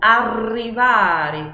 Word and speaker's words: arrivare: Uma palavra com doppia R é como a palavra, o verbo arrivare, arrivare. Aí eu dobro, eu viro essa vibração ainda mais, né? Arrivare, Palermo.